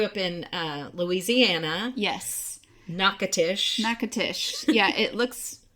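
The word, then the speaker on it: Natchitoches: absolutely they grew up in uh Louisiana yes nakatish nakatish yeah it looks it's next or something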